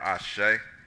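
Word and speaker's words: Àṣẹ: The Yoruba language, the word Ashe, is spelled A-S-E with the accent over the E.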